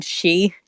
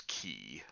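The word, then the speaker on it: 気: You mean she? No, in Japanese it's ki.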